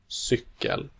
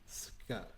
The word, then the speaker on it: cykel: Cykel, Cykel.